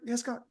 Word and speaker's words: Hescock: compare coach Desmond and Coach hescock is that pronounced right hescock yeah yeah yeah how would you compare